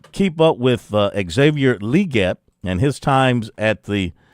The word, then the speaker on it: Legette: Legette, that's how he pronounces it now.